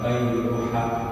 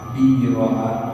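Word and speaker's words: بيرحاء: Itu pengucapannya bisa macam-macam ya. Bisa bayruha, bayruha, biraha, biruha namanya.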